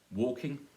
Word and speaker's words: walking: It's participles, it's always a stress on the first syllable. So we're going to do walking. That's how you say it if you were shouting at somebody across the street. Walking! You would not say walking, it'd be strange.